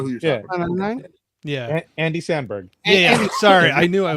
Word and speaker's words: Samberg: Springs I don't know if you're um with sanberg um was that on Hulu yeah yep um